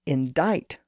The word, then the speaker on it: indict: fixture in the spelling the word indict also got a new silent letter C through this process